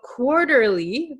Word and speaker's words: quarterly: So quarterly quarterly, this T is going to become a flap T. So it sounds like an English um soft D sound. In your country it might sound like an R but in English it sounds like a soft D.